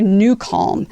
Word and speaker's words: NuCalm: And when that's the case, you want to try New Calm. So for those of you who are on the podcast world and don't know, and you're listening, it's spelled NUCALM.